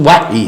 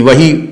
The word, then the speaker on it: وحی: میں ہم کرتے ہیں، ویسے صحیح تلفظ تو وحی ہے، لیکن وہی بھی جائز ہو گیا ہے، اس لیے کہ یہ ہمارے ہاں اردو میں اسی طرح مستعمل ہے۔ تو جناب اس